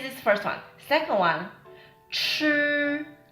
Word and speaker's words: 吃: Second one, 吃, 吃, this pronunciation. 吃. Again, we don't curl it. We don't curl the tongue, okay?